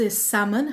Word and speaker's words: salmon: پس کلمه دومی که یاد گرفتیم اینجا تلفظ salmon هست.